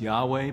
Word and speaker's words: Yahweh: In English, it's YHWH, sometimes pronounced Yahweh, but our Jewish brothers